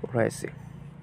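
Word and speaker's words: wrong: এখন এখানে দেখো তোমরা দেখো লক্ষ্য করো ডব্লিউ রয়েছে তারপরে আর ডবলিউ এর পরে আর রয়েছে ওকে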